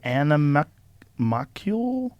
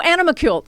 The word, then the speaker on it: animalcule: It's spelled animacule? That's Animalcule.